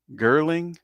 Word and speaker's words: Gerling: um it's Jeff uh Gring I think is last how you pronounce his last name. Um Gerling. Ge R L I N G.